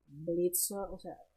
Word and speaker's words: Blitzø: So Robofist comes and say that, does anybody love you, Blitzø? I mean, he comes and brushes aside completely the fact that Blitz just told him that the O is silent.